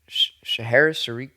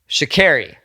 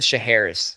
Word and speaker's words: Sha'Carri: Yeah, Sha'Carri. I said Sha'Harris. I think I said Sha'Harris. Yeah. Sha'Carri. I think that's how you say it, right?